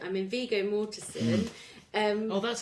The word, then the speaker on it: Viggo Mortensen: Okay, so as you said, Fitty Mortensen. I mean, Viggo Mortensen. That's how you pronounce it.